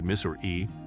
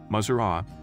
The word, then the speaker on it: Missouri: no single right pronunciation Missouri residents say miss or E maer and even misor E when referring to their home state linguists have spent a